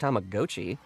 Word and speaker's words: Tamagotchi: I found out it's pronounced Tamagotchi last week.